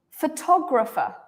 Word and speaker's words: photographer: took you are wrong so every set every word can only have one main stress right we can't have two photographer photographer yeah photographer